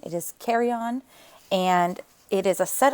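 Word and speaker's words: carillon: the carryon a lot um it is not pronounced carolon it is kryon and it is a set of bells hung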